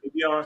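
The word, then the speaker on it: Avieon: Avion.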